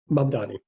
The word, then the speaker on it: Mamdani: Am I pronouncing it right? Mamdani.